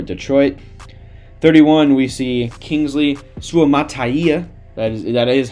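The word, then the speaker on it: Suamataia: be huge for Detroit 31 we see Kingsley suaya that is that is how you pronounce it I did learn that recently um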